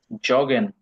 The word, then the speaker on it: jogge: দেখছেন এখানে জগিং এর উচ্চারণ কিন্তু জগে, যে দিয়েই বলছি, ওয়াই এর মতো করে নাই, ইয়গে বলে নাই।